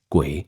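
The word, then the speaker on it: 鬼: Now, you see the word oni in Chinese characters pronounced guay in Chinese literally means something like the hidden one or spirit of the dead.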